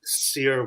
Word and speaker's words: Cyr: I was just like sear wheel, and it's spelled CYR.